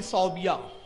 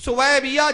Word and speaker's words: सुवैबिया: लेकिन जिस अबू जब रसूलुल्लाह की तशरीफ बावरी हुई तो उसकी एक लौंडी थी सौबिया, सुवैबिया, सुवैबिया सही प्रोनाउंस है उसका, अलग है, सौबिया भी बोलते हैं लोग। सुवैबिया जब आती है वो